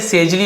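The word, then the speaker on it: sagely: यूज किया जाता है सॉरी ये सेजली होगा क्योंकि देखिए जी के बाद ई आ गया ना तो ज्यादातर आप देखी जी के बात ई हो आई हो वाई हो तो हम ज बोलते हैं सेजली सेजली किससे बना हु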